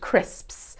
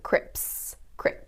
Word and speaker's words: crisps: It's the sps sound at the end, crisps. You'll find a lot of people mispronouncing them as crips, when they should be crisps.